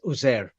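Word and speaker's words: عزير: Now the thing is, there's different pronunciations, but the standard pronunciation is Uzair.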